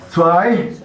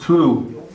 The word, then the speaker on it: zwei: Zwei, and that's two. But there's also some people, as I was telling you there a while ago, and Kent told you, there's some people pronounce it two.